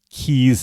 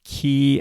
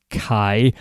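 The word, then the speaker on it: caye: over 400 of these Keys as they call them they spell it C A ye so it's pronounced key I always pronounced it Kai but key is how they pronounce it we are we went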